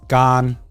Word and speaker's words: Garnt: So the Thai pronunciation of my name is Gan.